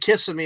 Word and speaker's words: Kissimmee: Yeah, older people like calling it kissing me and make it a joke, like kissing me.